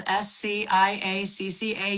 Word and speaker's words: Sciacca: My name's Sciacca, all one word, not spelled like it sounds, Sciacca. You can thank the Sicilians for that.